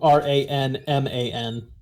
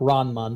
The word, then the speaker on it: Ranman: i should point out it's spelled r-a-n-m-a-n oh ron and ron r-a-n-m-a-n so like ran man but ron mon yeah there you go